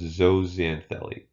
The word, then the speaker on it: zooxanthellae: crazy word here just just remember that the X is pronounced as a Z so it's zooxanthellae and this doesn't Delhi